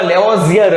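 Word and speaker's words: Lavoisier: ईस्वीसन 1789 में वैज्ञानिक एंटोनी लेवॉइजरे, अमुक बुक में लेवोजियर हशे, अमुक बुक में लेवॉइजर हशे, तमारे बे एक ज समजवानुं कारण के प्रोनाउंसिएशन अलग अलग रीते लोको करे।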